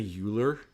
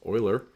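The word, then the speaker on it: Euler: Uh, everybody's going to want to say Uler. Uh, his name is actually pronounced Oiler.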